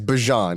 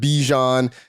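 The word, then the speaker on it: Bijan: who by the way, we have learned officially it is Bjon. It is not Bejon. It does not rhyme with a type of mustard.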